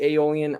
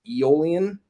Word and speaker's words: Aeolian: Uh a lot of people say Aeolian. I used to say Aeolian for the longest time until I found out that it's really technically pronounced Aeolian.